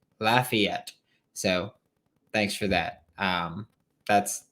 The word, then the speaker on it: Lafayette: Walker Howard in Lafayette, which is how it's pronounced, apparently. Not Lafayette, Lafayette.